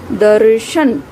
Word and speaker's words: दर्शन: इसका उच्चारण है द और श के बीच में। आप उच्चारण करें फिर से, दर्शन।